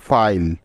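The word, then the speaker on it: file: তাহলে এই শব্দটির উচ্চারণ হবে ফাইল। দেখো কিভাবে, প্রথমেই এফ আছে, তাই এফ এর পরিবর্তে নিয়ে নিলাম ফ, তারপরে আই আছে, সেজন্য আই এর লং সাউন্ড আই নিতে হবে।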